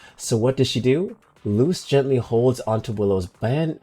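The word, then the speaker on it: Luz: Okay, but back to Loose and Willow. Uh her name is pronounced uh like Loose. Ah, like Loose Noetta from the Owl House.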